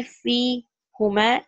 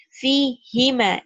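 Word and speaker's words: فيهما: Fi plus huma will not be fi huma. It will be fi hima. It will take kasra. It's more easier to pronounce. Fi hima.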